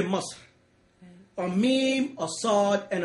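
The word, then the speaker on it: مصر: That's strangely enough, the exact same pronunciation as the Arabic or Ashuric used in present-day Egypt for Egypt, Miss. They say Musr.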